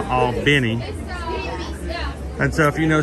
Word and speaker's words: Albany: Now, already someone's going to go, it's pronounced Albany. Well, you know, they call it Albany in New York, but you know, we like to draw things out. We'll call it Albany.